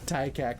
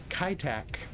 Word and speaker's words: Kai Tak: of Bangkok going into TICAC, folks. But I hope you're excited about this. Yeah, I just messed it up there, didn't I? I just said it wrong. Yeah, KaiTak. Yeah, Kaitak.